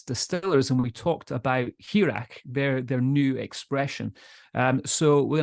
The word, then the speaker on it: Hearach: Hearach.